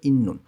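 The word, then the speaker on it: 있는: সম্পর্ক ইন্নুন আছে সাংসদ ত ধ্বনির বাৎসিমের পরে যখন ন আসে তখন এই ত ধ্বনির বাৎসিম ন উচ্চারণ হয় এখানে উচ্চারণ হবে ইন্নুন খানগে ইন্নুন সম্পর্ক আছে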